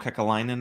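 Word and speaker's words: Kekäläinen: Kakalainen, I think that's how you say his name, the GM in Columbus, and someone else. So was that Jarmo Kekalainen, I think is how you say it.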